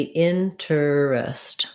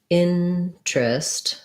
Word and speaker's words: interest: a word like interest it looks like it should be interest but it's actually interest it's actually two syllables we don't say this e sound in interest even though in something